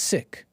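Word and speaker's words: Sikh: new york-based sik sik Coalition said the correct pronunciation is sick siik that's true I heard a lot of seik even up in Canada but I've heard this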